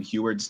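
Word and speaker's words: Huard: So I will say I've been watching Sam Heward's tapes.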